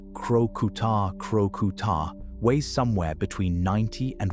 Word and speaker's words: Crocuta crocuta: A spotted hyena, or Crocuta crocuta, pronounced crocuta crocuta, weighs somewhere between 90 and 190 lb.